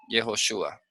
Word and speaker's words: Jehoshua: Ese es el total resultado, Jehoshua. Al momento de colocar las vocales tenemos y o shu y la a. Jehoshua.